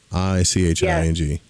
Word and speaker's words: I Ching: up differently just YouTube simple three coin eing i c h i n g yeah yeah it looks like I Ching but they pronounce it iching you learn that too when